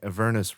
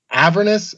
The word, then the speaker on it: Avernus: So I already knew, a year in advance how Descent into Avernus starts and that it takes place in Baldur's Gate.